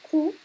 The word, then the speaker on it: coup: à notre cours aujourd'hui il faut vraiment savoir prononcer le mot à coup ouais avec le son ou parce que si vous dites Q ça va être une chose tout à fait différente alors si vous si